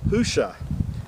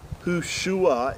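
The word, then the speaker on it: Hoshea: numbers chapter 13 that joshua's original name was hushah and that's the way it was pronounced not yushua it was hushah and moses changed his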